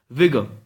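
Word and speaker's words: vigour: It's V-I-G-O-U-R, but it is pronounced as vigor.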